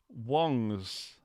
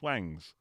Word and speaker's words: Wong: coming up for the Wong's series of amps, which people refer to as Wangs. And now, hopefully, with Shang-Chi, people will actually know how to pronounce Shang and Wong rather than Wang.